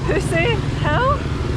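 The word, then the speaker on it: Phousi Hill: It's apparently pronounced Pussy Hill, Pussy, so spelt a bit differently and obviously a different meaning to back home.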